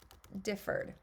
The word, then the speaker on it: differ: the word home differ that first syllable is our is our uh stress syllable since the first syllable is a stress syllable I don't double the r in the second syllable now let's look at